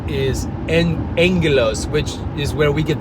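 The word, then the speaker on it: ἄγγελος: So that the way that word agelos sounds is angelos, which is where we get the word angel.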